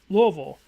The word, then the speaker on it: Louisville: I had family that grew up in Louisville, and they would get so mad when people would pronounce it Louisville.